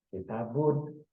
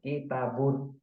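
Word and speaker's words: كتابٌ: be bnya menjadi bu karena dia pakai domah kemudian dikasih Nun itu namanya menjadi kitabun seperti itu pengucapannya kitabun kitaban kalau dia pakai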